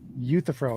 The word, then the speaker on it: Euthyphro: So I said Euthyphro is how you say it.